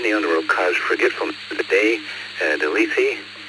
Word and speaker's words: Lethe: Lythea? Is that how you say it? Alpha? Well, I think it's Lethe, but everyone's got, a different idea of that according to the way the Greeks pronounce it.